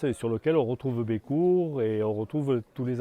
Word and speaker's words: Bécours: Sachant aussi qu'en occitan, la deuxième consonne en fin de mot ne se prononce pas. Donc on ne dit pas Bécours, on dit Bécourt.